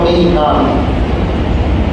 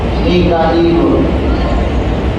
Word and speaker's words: মিকাইল: আর মিকাইল এও কোরআন শরীফে আছে, জিবরিল এবং মিকাল। হযরত মিকাল আলাইহিস সালাম, ওই মিকালের আরেক উচ্চারণ আর কেরাত অনুযায়ী মিকাইল।